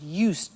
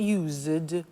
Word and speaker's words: used: speaking Italian every day listen to the pronunciation I said used with t sound used not use it or you said used that's very important to distinguish it from the other verb use ok used the next